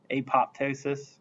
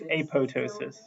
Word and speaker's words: apoptosis: the cells they like apoptosis but you're not supposed to technically pronounce that second P because it's in front of a t so it's a it's apotosis it's whatever though I